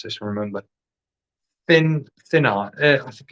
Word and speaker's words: Thinis: Remember, Thinnas. I think it's Thinnas. It's pronounced Thinnis. It's spelled Thinis. So it sort of pronounces as it sounds, but with my dodgy accent, it could well be anything.